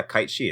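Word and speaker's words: Cait Sith: so I was like oh it's Gaelic and it's actually yeah kite she is just how it's pronounced cuz Gaelic is really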